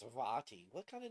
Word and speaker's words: Vaati: Well, I kept pronouncing his name Vaity, like deity, but with a V.